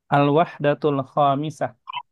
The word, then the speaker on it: الوحدة الخامسة: Al-wahdatul khamisah. Ini ya bacanya.